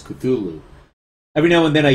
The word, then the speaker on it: Cthulhu: And I say, well, okay, I pronounce it Cthulhu, but, in the book, in the story, it specifies that there's no actual way for us to pronounce Cthulhu. It's just kind of an approximation because we can't actually pronounce it.